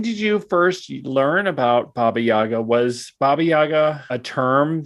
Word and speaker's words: Baba Yaga: I just say Baba Yaga when I'm speaking in English, Okay.